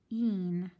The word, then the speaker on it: bean: vowels go walking, the first vowel does the talking, which is why when we decode this word, we read b. Bean, bean. We don't hear anything from the A, but remember that when